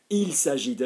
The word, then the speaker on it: il s'agit de: Il s'agit de. Lovely. Okay, il s'agit de. And I always stress the il because obviously half the